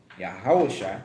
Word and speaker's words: Yahushua: Hamashiach meaning the Messiah, Yahushua, that's how you pronounce Christ's name in the Hebrew.